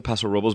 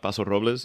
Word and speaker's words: Paso Robles: And I I like you know it's they pronounce it Paso Robels but I just want to call it Paso Robles even though it's not.